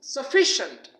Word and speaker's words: sufficient: is uh it is sufficient don't say sufficient it is sufficient sufficient means kafi Pura